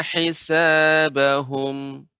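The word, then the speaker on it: حسابهم: Ada satu tambahan lagi masalahnya, yaitu pengucapan huruf ha. Ya, Ibu mengucapkan ha besar. Hisabahum seharusnya hurufnya kecil. Hei, heisa. Nah, ini juga harus dilatih Ibu. Karena hei itu di tengah tenggorokan.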